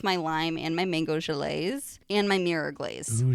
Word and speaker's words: gelée: lime and my mango gelées, and my mirror glaze. Ooh, gelée. Look at you. Gelée, I know. I honestly felt like such a dingus saying it because it's spelled Gelee. Well, it's but French.